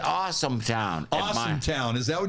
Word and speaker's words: Austintown: austintown awesome austin awesome we pronounce it awesome town awesome town is that